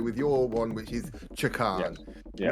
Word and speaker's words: Chakan: We can't speak to Rack in this one, so we have to go with your one, which is Chakan. Yes. Not Jackademus and Pliers, not Chakan, right.